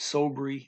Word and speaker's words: sobre: Same word as in Spanish, sobre. Here you pronounce it sobre, usually, most accents.